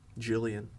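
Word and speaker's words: Gwenllian: Jillian.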